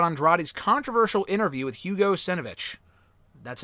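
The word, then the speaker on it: Savinovich: At E13A, did you hear about Andrade's controversial interview with Hugo Senovich? That's how you pronounce his last name.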